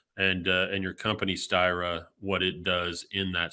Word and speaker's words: Styra: awesome and uh let's see if I can pronounce the name of your company you're the co-founder and CTO of styra is that correct you got it yeah so